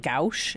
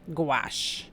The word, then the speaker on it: gouache: going, "Mom, it's pronounced gouache." And I go, "Oh, okay." Like rhymes with squash. Yeah. Okay. So gouache is similar to acrylic, but it is water activated.